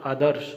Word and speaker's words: आदर्श: यानी कि जो रैफ वाला जो र है वो द पे न आकर के श पे आएगा तो वो शब्द शुद्ध होगा। तो इसका शुद्ध उच्चारण होगा आदर्श।